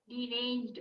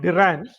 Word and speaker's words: deranged: it d d ranged deranged okay der ranged now it's two it's two syllables as we call it in English no when you pronounce the word it is not der dange two parts so whenever